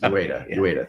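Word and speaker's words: Uyeda: A recent commissioner was on CNBC, and he said, Mark Ueda? Yes, Ueda, thank you. And he said, he described the SEC's approach to crypto as a disaster. Yeah. I agree with Commissioner Ueda.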